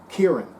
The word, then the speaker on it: Kieran: I should pronounce it differently, but I think that is the correct Gaelic pronunciation. Kieran. Kieran. That's it.